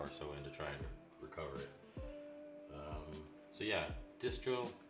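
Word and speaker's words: Recuva: put another hour or so into trying to recover it.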